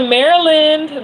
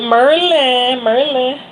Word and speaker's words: Maryland: And shout out to Maryland. That's my state. But we call it Merlin.